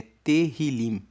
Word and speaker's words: Tehillim: No hebraico, o nome do livro é Tehillim. Se escreve Tehillim.